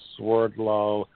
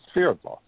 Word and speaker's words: Swerdlow: And the last name, well, the last name is really a Russian name, but in the United States it's pronounced Swerdlow, but in Russia it's Sverdlow. Could you say that again in Russian? Yes, Sverdlow.